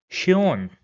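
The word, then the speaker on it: schön: In the next example I will do the same thing and this will be pronounced as shon which means beautiful.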